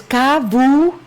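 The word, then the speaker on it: Çavuşin: Entonces es Cavucin.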